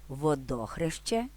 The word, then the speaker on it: Водохреще: поширені водохреще і водохрещ в обох випадках наголос спаде на другий склад водохреще Водохреща але пам'ятайте що водохреще-